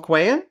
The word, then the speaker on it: Quayle: Das ist Tom Quayle.